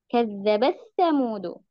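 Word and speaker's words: كذبت ثمود: Padahal bacaan riwayat Imam Hafs an Asim jalur Syatibiyah itu taknya dibaca yuzhar ya. Kazzabat samudu. Karena ada bacaan riwayat lain ya, riwayat Imam As-Susi baru bacanya dengan idgham.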